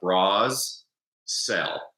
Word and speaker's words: Brasell: My last name is really easy to remember how to spell. It's spelled like Bras Cell.